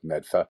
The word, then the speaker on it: Medford: You know it's medfa not meta meda meta. Sorry my mispronunciation golf courses.